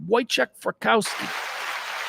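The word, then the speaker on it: Wojciech Frykowski: coffee Aris polish actor week fikowski pronounced it right I've heard it said out loud boek fski he's a Polish actor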